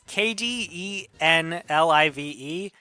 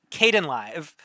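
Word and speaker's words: Kdenlive: software I found it's KD n l i v e um no no it's I was pronouncing it Kaden live but it's based on the uh Linux uh software package KDE so it's kdn live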